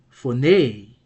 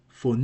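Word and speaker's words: φωνή: Well, phone has four, nay, two syllables. And what else do we see? We see this acute accent here that tells us the last syllable is accented and should be therefore pronounced with a higher tone. So the pronunciation will be phone, phone.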